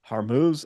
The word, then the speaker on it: Hormuz: off the Straits of Hormuz, I believe is how you pronounce that. I'm always unsure of exactly how to pronounce that, where a good portion of oil is transported.